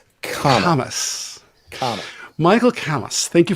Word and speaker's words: Kammes: I'm going to let Michael tell us his pronunciation, but I believe it's Kammes, right? It's like Thomas with a K. Kammes.